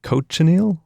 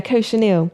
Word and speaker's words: cochineal: You can help me pronounce this. This is like cochineal? How do you say? Yeah, cochineal.